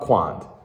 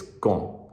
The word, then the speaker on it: quand: Michael, can you just, it's not quand, it's con. You don't pronounce the A and the D. You just go, con.